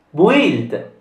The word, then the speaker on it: build: Build. In questa parola la U non si pronuncia, quindi build.